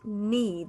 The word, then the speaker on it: knee: the word knee the k is silent knee this is the knee